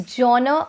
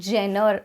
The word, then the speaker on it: genre: it is one of my favorite words to pronounce actually what is it jono it's jonah or you can you know give it a little bit of accent and say genre but it is not gener a lot of people mispronounce it as jenner